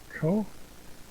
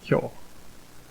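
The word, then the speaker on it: 校: what this is it's co and i'm pretty sure that's me but let's just uh let's look at the back yeah it's ko and kyo are the two onyami readings and it means exam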